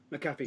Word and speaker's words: McAfee: Era versus Team McAfee, or McAfee, however you pronounce his name. Is it McAfee? McAfee.